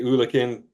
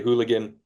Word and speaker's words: eulachon: pronounced uh, the fish eulachin. We would say Yeah. Eulachon. We would say Ulican just to make sure we're talking about the same fish. Yeah. Alaska, they say hooligan.